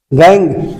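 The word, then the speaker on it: gangue: गैंग या matrix. गैंग means क्या होता है? अशुद्धि। गैंग मींस क्या होता है? अशुद्धि। गैंग मींस अशुद्धि। ठीक है? गैंग या मैट्रिक्स।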